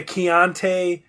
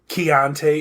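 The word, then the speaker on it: Keontay: the second string running back so maybe the keante and if i'm saying that wrong k-e-a-o-n-t-a-y keonte ingram yeah if you're saying it wrong he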